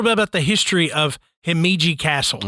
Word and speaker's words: Himeji: I'm trying to say this correctly it is heiji Castle um I'm not going to be able